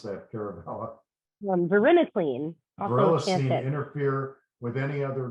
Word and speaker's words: varenicline: Verinus, how do you pronounce that, Caravella? Varenicline.